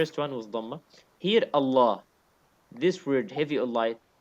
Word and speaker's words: الله: This lam of Allah is a heavy lam in this case.